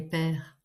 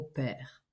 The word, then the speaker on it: pair: Ah oui, il faut commencer par expliquer le mot père. Ça ne veut pas dire papa. Le mot père s'écrit P A I R.